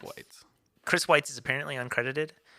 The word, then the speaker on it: Weitz: It's Weitz. Fights. I would think that would be Weitz, I think but it's Whites.